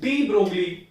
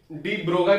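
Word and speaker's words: de Broglie: ठीक है, तो इसको बेसिकली डी ब्रोगाई पढ़ते हैं। ब्रोगली ये एक स्पेलिंग है, लेकिन इसको प्रोनाउंस करते हैं डी ब्रोगाई।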